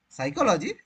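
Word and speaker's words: psychology: এবার পি আগে থাকে যেমন নিউমোনিয়ার আগে পি থাকে সেরকম সাইকোলজি পি এস।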